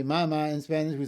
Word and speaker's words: mamá: Mother, mamá. We don't say mamá in Spanish, we say mamá, so we have to put a written accent.